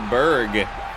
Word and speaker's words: Berg: Danny Berg. Last name is, yes, the second syllable in the word Pittsburgh.